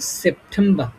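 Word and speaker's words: September: তো এটার উচ্চারণ তোমার হবে সেপ্টেম্বর।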